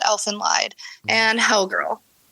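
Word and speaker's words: Elfen Lied: Um, definitely Elfin Lied. I don't know if I'm pronouncing that right, but I believe it's pronounced Elf and Lied and Hellg Girl.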